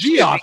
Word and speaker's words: Geoff: It's Geoff, because no one's going to call it Kingdom Jeff. Thought it was pronounced. That's how Shane said it the first time. So that's Geoff is the correct pronunciation.